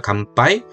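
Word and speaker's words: 乾杯: 감빠이. 자, 보세요. 감 하라는 발음을 하려면 하를 준비하는 발음이에요. 길게 빼 보세요. 가에서 길게 빼 보세요. 감 하 파이 그죠? 입술이 다물리는 음이 뒤에오면은 저절로 이게 미음처럼 들리는 거예요.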